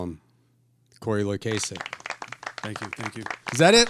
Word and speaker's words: Loykasek: Cory Loykasek. Thank you. Is that it? Loykasek? I feel like I always mispronounce it. It's Loykasek, Loykasek, damn it.